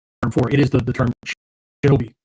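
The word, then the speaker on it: しのび: And it's written with 3 characters, still pronounced, still read Shi-No-Bi, right?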